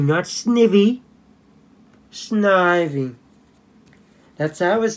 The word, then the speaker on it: Snivy: packs Pokemon Japanese first I forgot sniping it's pronounced Snivy nuts nippy Snivy that's I was said in the anime Oh